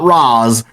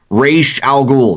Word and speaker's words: Ra's al Ghul: That is was and always will be my issue is Ra's al Ghul. Not Roz, Ra's al Ghul. That's how you pronounce it, you bastards.